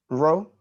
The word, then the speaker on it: rho: Rho? Oh, RHO, okay. Yeah, rho. I'm sorry, I could have said RHO, but yeah, just rho.